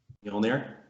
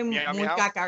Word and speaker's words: Mjolnir: I'm about to butcher the name, so I'm just gonna call it the hammer because I always butcher it. But say it please for me. Mjolnir? Yes, because I'm gonna say Munkaka or something like that.